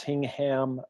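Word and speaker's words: Hingham: you're talking about is hing ham Massachusetts right yeah they pronounced it hanging with the suburb right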